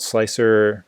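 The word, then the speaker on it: Slic3r: So I'm using this program called Slicer. It's spelled as it sounds, except for 3 is replaced for E.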